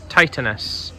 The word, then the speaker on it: Titanus: So, Titanus giant. Pronounced Titanus, like Titan.